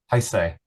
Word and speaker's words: Heisei: But and how did you pronounce that as an academic? Sure. No, it's not Showa, Yeah. but the other one, Heisei.